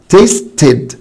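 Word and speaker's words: tasted: خلاص خلاص بقى يا مستر احنا عرفنا هي الاي موجودة بس مش بنطقها في المضارع لكن هنطقها في الماضي، فتبقى تيستد تيستد تيستد.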